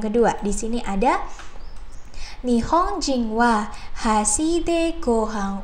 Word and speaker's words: は: Wah, di sini ada ha, di sini ada ha lagi. Nah, padahal untuk ha yang depan ini adalah partikel ya, yang mana cara bacanya adalah wa gitu ya, teman-teman.